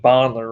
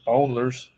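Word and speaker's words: Bolner's: except for the bottler i've been saying bondler wrong this whole time somebody on youtube before me the other day that i was saying it wrong it's actually bowlers it's called fiesta yeah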